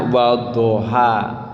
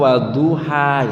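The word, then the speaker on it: وَالضُّحَى: zaman saya kecil tuh imamnya bacanya wadaha nah saya nanya apa itu Yang betul itu wadoha atau waduha gitu Wada gitu Itu pakai Dod itu domah apa Fatah gitu jadi memang saya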